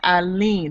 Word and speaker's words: Aline: She wanted to confirm that her child's name is Aline. That's A-L-I-N-E, but it's pronounced A-L-E-E-N.